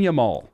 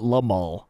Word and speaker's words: Yamal: in relation to Lamine Yamal. If you don't know the name, I don't blame you. Lamine Yamal. Lamine Yamal. First name, Lamine. Last name, Yamal. There's actually a great photo. Yamal, not Lamal.